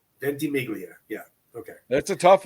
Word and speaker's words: Ventimiglia: Milo Ventimiglia. Ventimiglia.